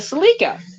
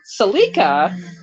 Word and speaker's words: Celica: the Toyota Celica where we had the silica SIM card just different pronunciations of it but realistically Celica was the proper pronunciation of it because that's what they actually use in the Japanese advertising and so that's what